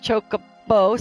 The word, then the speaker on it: Chocobo: Chocobo.